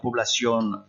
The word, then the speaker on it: población: ¿Cuál es el nivel de vida de la población rural? Quel est le niveau de vie de la population rurale? Faites attention, hein, population. Regardez comment ça s'écrit en espagnol. On dit bien población. Población.